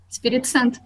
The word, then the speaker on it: Espírito Santo: There's been 12 years of women's gems in, okay, how do you pronounce the area? Espirito Santo? Right, right. Yeah? Espirito Santo.